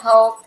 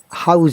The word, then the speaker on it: health: House insurance. Health. Health. Could you please write it? Health. I'm sorry, I'm having difficulties. Health. Health. Health. Yeah, please make Free sure health. your word is pronounced correctly, otherwise it will be difficult for other people Health. as well. If I'm not able to understand, at examine of IELTS exam, remember it is health.